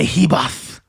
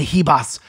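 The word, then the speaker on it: Ribas: that number 2 Amanda Heba you gotta say her name like a spanis Amanda he boss she is fantastic and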